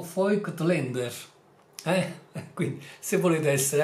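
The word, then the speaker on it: Voigtländer: a proposito di pronuncia la consonante V in tedesco si chiama Fau e si pronuncia generalmente come una F la vocale a si legge come una e quindi il nome vo glander va letto fo Lander Eh quindi se volete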